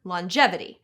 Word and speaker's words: longevity: Or rather, longevity.